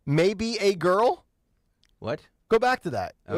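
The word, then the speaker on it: Maebe A. Girl: Silver Lake neighborhood councilman maybe a girl great are you picking on what I'm saying here maybe a girl but it's spelled m a e b you have you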